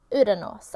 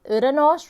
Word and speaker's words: Uranus: Uranus. I like to say it like Uranus rather than Uranus, or Uranus, because that sounds so disrespectful.